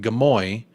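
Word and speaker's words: Gimuy: G'day from Gamui, pronounced Gamoy, also known as Cairns, in far north Queensland, Australia.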